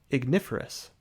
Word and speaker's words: Ignus: helig God of luck Ignus pronounced IGN us the technical name for